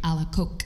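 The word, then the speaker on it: Alacoque: it properly go for it Sister Margaret Mary alak alak alak okay okay so um let's talk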